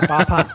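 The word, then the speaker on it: Bama: So the town we're talking about is called Bapan. And am I pronouncing that right? Because I'm sure it's Chinese. That's very good. Okay. Yeah, Bapan.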